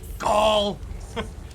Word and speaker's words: gall: it with my flock it is pronounced gall and it means dead it was no accident